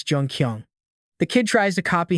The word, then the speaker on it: Jun-Kyeong: Not Jio, it's Jungqong.